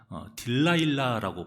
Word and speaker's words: 들릴라: 이 들릴라가 데릴라라고도 발음을 하고요. 영어로는 딜라일라라고 발음합니다.